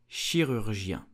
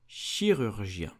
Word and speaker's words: chirurgien: You will say chirurgien. Chirurgien.